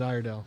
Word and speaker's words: Iredell: say our Dale iredell the locals call it iredell I didn't know didn't